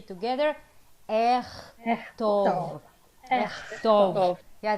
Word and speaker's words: אכתוב: I will write, let's say together, אכתוב. אכתוב. Yeah, there are two tricks there because k and ch interchangeable. Yeah, אכתוב. And there is an o there.